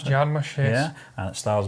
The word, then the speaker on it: Jarmusch: Is that how you pronounce it? Jarmusch, yes.